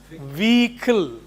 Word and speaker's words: vehicle: It is vehicle. Vehicle. Yes. You can write it there before you learn your transcription. V-E-E-K-L. Vehicle.